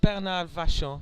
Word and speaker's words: Bernard Vachon: he may pronounce it in more of a Canadian way. I always find the American lifters the hardest to get the pronunciation right because Yeah. they may not have taken the European pronunciation Right. with them. Whereas being Canadian, of course, he's French Canadian. Sure. He's gonna use a bad French pronunciation, but it'll be a French pronunciation.